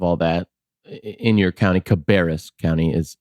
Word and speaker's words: Cabarrus: And I'm, as if that's not enough, on top of all that, in your county, Cabarrus County is how it's pronounced.